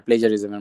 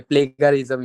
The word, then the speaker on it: plagiarism: এটা pronunciation actually British হোক অথবা আমেরিকান হোক, এটা হচ্ছে প্লেজারিজম, ঠিক আছে? অনেকে প্লেগারিজম ইউজ করে, এটা রং, ঠিক আছে? Don't do that.